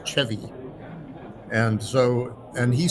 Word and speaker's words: Chevy: It's spelled Chevy, but it's pronounced Chvy.